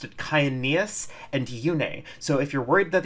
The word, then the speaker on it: Yune: money on the internet, the original English voiceover pronounced it Kyaneus and Yune.